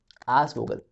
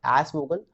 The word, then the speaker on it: aasvogel: बढ़ते हैं दूसरे वर्ड की ओर जो कि है आस वोगल, which spells like AASVOGEL. And please do not try to pronounce it like asvogel. Doesn't sound good.